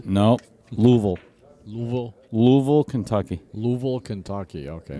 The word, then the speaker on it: Louisville: You have to pretend you've got like a mouthful of marbles. That's what I was told. Louisville. No. Louisville.